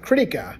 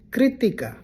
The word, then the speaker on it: Kritika: This one, it's not Kritika. I understand you want to do greedy and it kind of rhymes with greedy, critty, but that's not critty. It's Kritika. Kritika.